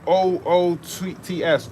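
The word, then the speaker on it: עוּץ: Oos. It's pronunciation O-O-T-S. Oots. In Hebrew.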